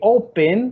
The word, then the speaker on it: open: Mientras que open, que es abrir, está al principio.